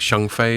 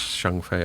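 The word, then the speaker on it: Zhengfei: by Ren I think Shengfei is how you pronounce it. Ren the founder. Wei taught me once how I pronounce it, and it's Shengfei, I think.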